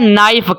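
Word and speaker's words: knife: है छुरी या चाकू अब के हमने साइलेंट करना होता है के को पढ़ना नहीं होता लेकिन स्पेलिंग में लिखना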